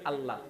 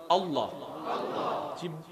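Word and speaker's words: الله: আমরা বেশিরভাগ সময় সাজারণ উচ্চারণ করি কি আল্লাহ, কিন্তু ওলামায়ে কেরামের সোহবতে বসলে আমরা যেটা জানতে পারি আল্লাহ নয় আল্লাহ। জিভটাকে একটু মোটা করে গোল করবেন আল্লাহ, আর দাঁতের গোড়ার মধ্যে জিভটা লাগবে আগাটায়, একটু যদি আপনাদের কষ্ট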